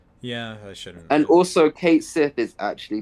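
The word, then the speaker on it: Cait Sith: in incredible detail yeah I shouldn't and also Kate Sith is actually pronounced Kate Sith it's not pronounced Kat shei or whatever we thought it was going to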